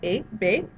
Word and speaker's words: Hébé: So just like in the name here, Hébé, it's as if that H isn't even there. It's just there to look good, I guess, because we're just pronouncing it Hébé.